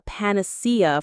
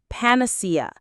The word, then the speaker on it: panacea: This is a great word to know, panacea. Let's try it. Panacea. The stress is on the third syllable, panacea. A panacea is a solution